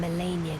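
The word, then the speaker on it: Malenia: of the demigods only i nicola and melania could claim that title that's how you pronounce it chosen by our own two fingers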